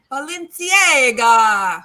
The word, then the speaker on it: Balenciaga: Well, let me say it like the Italians say, Balenciaga.